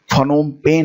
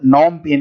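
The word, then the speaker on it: Phnom Penh: ठीक है, एक्चुअली में इसमें पी जो होता है वो साइलेंट हो जाता है, तो इसको आप नॉम पेन के नाम से भी जानते हैं।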